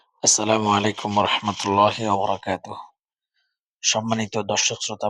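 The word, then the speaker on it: عليكم: মধ্যে শিখেছেন আসসালামু আলাইকুম আলাইকুম আইনি উচ্চারণ ঠিকভাবে করবেন আসসালামু আলাইকুম আহলাদিয়ারি আহলাদিয়ারি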